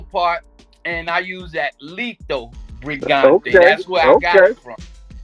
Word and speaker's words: Lito Brigante: Lito Brigante.